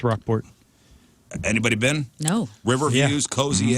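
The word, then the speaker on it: Rocheport: Is it Is it pronounced Rockport? Yeah. People online like to say Roachport or something, but it's Rockport.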